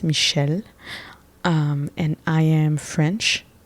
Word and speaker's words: Michele: so like I said my name is Michelle uh in French it's Michelle um and I am